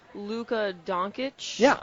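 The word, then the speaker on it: Dončić: to, correct me if I do pronounce his name wrong. I believe it's Luka Doncic, very good.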